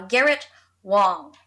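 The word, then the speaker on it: Garrett Wang: uh uh garrett uh garrett wong ah okay and the a is pronounced oh so i i had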